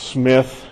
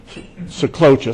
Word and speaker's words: Sjeklocha: all its glory and it's pronounced Smith no that's not right so cloture three simple syllables the J is silent it's my wife likes to say it's just there to scare you and here's a